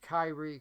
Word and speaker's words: Kyrie: In fact, at one point she actually pronounces Kyrie correctly rather than calling it sire or what some of the other people do.